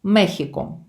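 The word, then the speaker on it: México: Іспанською мовою і країна, і столиця вимовляються і пишуться однаково. Мехіко. Оця екість читається як хота.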